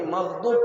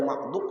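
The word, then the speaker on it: مغضوب: Jul lainub tapi magdub ada titiknya han sidin aku k tahu jangannya k dibujurakkan membaca magdub itu tak baca mahdub sampai selawat wasam kan ghairil magdub sini ghairil magdubi alaihim nah seperti itu.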